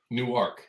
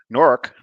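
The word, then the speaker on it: Newark: in New Jersey correctly they think it's two syllables new ark yeah new ark no that's that's that's in Delaware new arc is in Delaware norc or or if you're from there norc norc n o it's one syllable nor but yeah no so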